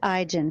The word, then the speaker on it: Aigen: I'm so glad you said Aigen because I realized I had been pronouncing that just a little bit wrong.